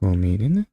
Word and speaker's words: romanen: It's pronounced romanen? Romanen. That's weird. Like romaine lettuce.